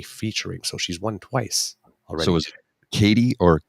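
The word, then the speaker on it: Caity: of the Year 22 for EP titled now pronouncing KT Georgie and in 2023 for debut LP featuring so she's won twice Katie or k t k t c a i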